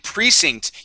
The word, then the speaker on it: precinct: And and precinct. You are very close with the pronunciation here. The accent goes at the very beginning of the word right here on on pre precinct.